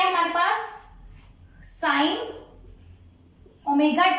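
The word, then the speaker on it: ω: ये मैंने एक लिखा है w, ये w नहीं है, इसको प्रोनाउंस करते हैं हम ओमेगा। क्या बोलते हैं इसको, ओमेगा, ठीक है।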